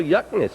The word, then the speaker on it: Yuknis: How do you spell Yuknis? Yuknis. Pronounced like cook this.